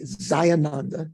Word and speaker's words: Jayananda: went to tibet so jayananda or the tibetans say zayananda they don't they don't pronounce the j that we we usually would recognize in uh sanskrit they say za zayananda so he's referring here